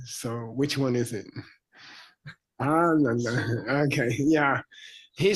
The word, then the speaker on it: Ananda: If you say Ananda, a lot of Americans say Ananda, which means Mr. Unhappy. And Ananda means Mr. Super Happy. So which one is it? Ananda.